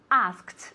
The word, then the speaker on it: asked: Es muy importante pronunciar el pasado de ask como si fuera A-S-K-T directamente, ¿ok? Es un sonido muy fuerte y una T muy fuerte, no como una D y tampoco como una sílaba aparte, ¿ok? Ask, asked, se mantiene en el mismo número de sílabas, ¿ok? So asked, ¿ok? One more time, Pilar. Every day I ask, yesterday I asked.